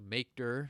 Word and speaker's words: mkdir: folder called my folder so make Derr is how I pronounce that space and my folder